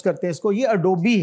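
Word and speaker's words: Adobe: होता है लेकिन कंप्यूटर साइंटिस्ट भी बहुत मिस प्रोनाउंस करते इसको यह एडोबी है दिस एडोबी और अगला जो लज है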